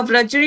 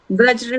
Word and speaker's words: वज्र: उसका सही pronunciation I think उनका व्रजरी होता है ना, व्रज्र, व्रज्र होता है जिससे, वज्र। हाँ, वज्र होता है, तो के द्वारा उस